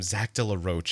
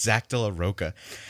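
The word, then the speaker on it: Zack de la Rocha: has always called him Zach de la Roche, and it's Zach de la Roca.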